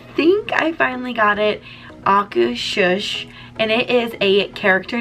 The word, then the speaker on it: Akershus: I have Googled this word so many times to learn the pronunciation, and I think I finally got it. Akershus, and it is a character dining experience, but we're going to dive into all of the details shortly.